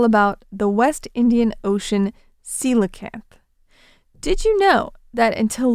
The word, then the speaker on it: coelacanth: It's spelled c o e l a c a n t h, and it's pronounced coelacanth.